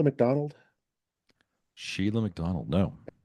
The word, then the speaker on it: Shelagh: You ever heard of Sheila McDonald? Sheila McDonald. No. And that's spelled a very Scottish way, Shelagh.